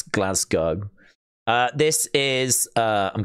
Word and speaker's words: Glasgow: and about in Glasgow some people call it Glasgow not in not in the okay but um abroad people pronounce it that way but it's glasg go uh this is uh I'm guessing on the